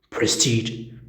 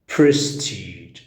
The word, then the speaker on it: prestige: ومرات ما تنطق ج تصير prestige، prestige، prestige، prestige. أو مثلا عفوا prestige أو prestige، سواء كان الصوت ال أو ال صوت الج أو صوت الج. both are correct.